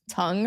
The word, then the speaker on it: tongue: of an attempt to get it to be pronounced tongue rather which doesn't make a lot of sense